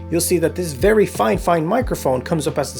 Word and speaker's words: FIFINE: see that this very fine fine microphone comes up as the second option and yes I'm saying fine fine on purpose this is how one of their sellers precisely asked me to pronounce it and this is where